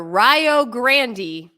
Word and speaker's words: Rio Grande: for example there was and how would you pronounce this r-i-o -g-r-a-n-d-e hold on a second Community College r-i-o-g-r-a-n-d-e okay